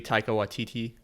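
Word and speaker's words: Taika Waititi: like how they they twisted um this movie taika watiti that's how you say it yeah he's the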